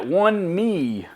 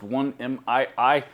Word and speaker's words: 1Mii: The folks at OneMii, I think is how that's pronounced, OneMii. I'm assuming that's how it's pronounced.